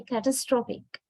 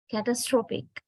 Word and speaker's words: catastrophic: But when we change the word into an adjective, you can see not the second syllable, it is the third syllable that is stressed. O, containing the vowel O. So what happens to the second syllable then? Its strength or stress is weakened. So a becomes catastrophic, catastrophic. So now we are stressing the third syllable, O, containing the vowel O.